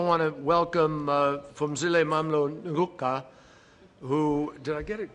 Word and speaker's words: Ngcuka: I also want to welcome Phumzile Mlambo Ngcuka, who, did I get it close to correct? No. Close? All right. Ngcuka, that's how you say it, who recently became the executive director of UN Women, and Dr.